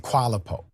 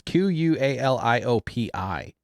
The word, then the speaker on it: Qualiopi: Approved by Bureau des Certification International and Qualipo. Let's go to it. Says Qualiopi or something. It doesn't even pronounce that. It's Qualiopi. He said Qualipo.